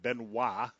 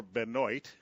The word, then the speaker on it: Benoit: Pass was caught down there by number 85, Benoit, or Benoit. It's B-E-N-O-I-T. I always thought that the Tigers relief pitcher, Joaquin Benoit, should have had his name purposely pronounced Benoit, because then he would have been Benoit of Detroit.